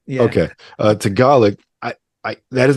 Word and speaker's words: Tagalog: the more, Eurocentric languages, hearing someone rapping Tagalog. Is that how you say it, Kuya? Yeah. In my mind, I always want to say Tagalog when I see it. So I got a lot of people think that.